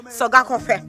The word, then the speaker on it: Sogakope: actually soak you know the P here is pronounced it's something in between an f and an H soak all right so my